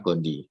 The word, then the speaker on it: gondii: I-nya double memang ya tulisannya, Toxoplasma gondii. Tapi bacanya Toxoplasma gondii.